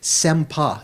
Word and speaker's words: sempa: But here it's chetana in Sanskrit, sempa. It's not just the word sem by itself, not just one syllable. Sempa.